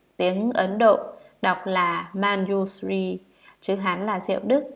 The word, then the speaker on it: Manjusri: Ngài Văn Thù Sư Lợi, nguyên âm tiếng Ấn Độ đọc là Manjusri, chữ Hán là Diệu Đức, Diệu Cát Tường.